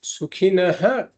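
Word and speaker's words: सुखिनः: So here we say Sukhinaha Kshatriya Partha. So before a Ksha, if there is a Visarga, then we pronounce that Visarga fully. That's a rule. Sukhinaha kshatriyaha, we should say.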